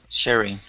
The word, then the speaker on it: sharing: right nice job um give me a little bit more of a long a sound here instead of sha sharing it's share a share sharing sharing there you go good